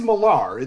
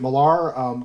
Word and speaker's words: Millar: and go from there margaret ellis millar and it is malar this is such an interesting thing too here is that uh they disagreed on how to pronounce their own last name margaret pronounced it malar kenneth miller aka ross mcdonald pronounced it miller so i guess you know just be mindful of who you're talking about here but she was born